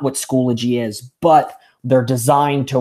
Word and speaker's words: Schoology: to you know set the record straight it's pronounced Schoology and what Schoology is is it's a learning